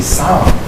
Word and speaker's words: Psalm: They named their baby Psalm. Praise the Lord. The P is silent.